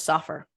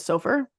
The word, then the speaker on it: Soffer: Jesse Lee so actually his name is Soffer oh I've been pronouncing it so far I'm pronounced it wrong too so but I heard